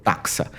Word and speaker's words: taxa: Taxon, che abbiamo citato prima, è un termine greco che indica un qualsiasi livello tassonomico, al plurale va pronunciato taxa.